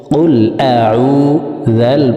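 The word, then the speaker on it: قُلْ أَعُوذُ: আমার সঙ্গে বললে আপনাদের সূরাতুন নাস মুখস্থ হয়ে যাবে এবং সহিহ শুদ্ধ উচ্চারণ হয়ে যাবে। কফ লাম পেশ উল, হামজা জবর আ, আইন ওয়াও পেশ উ, কুল আউ, যাল পেশ যু, কুল আউযু।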